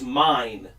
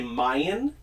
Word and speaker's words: mine: so this phone is mine, but people will say Mayan. Mayan. This one is Mayan. That's Mayan. That's weird. Yeah. That's an overpronunciation.